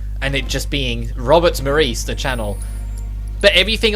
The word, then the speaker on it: Robert: I hate to break it to you, but it's not spelled R-A-W, it's spelled R-O-B, as in robot. I have no idea why that pronunciation of putting it Robert is so common in the US, despite how wrong it is.